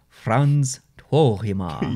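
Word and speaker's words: Frans Tuohimaa: And his name is Frans Tuohima.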